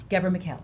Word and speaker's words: Ghebremichael: Gabra McHale.